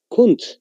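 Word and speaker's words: Kundt: Kund.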